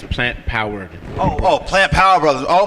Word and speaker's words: Plant-Powered: You got to say it right. It's plant-powered.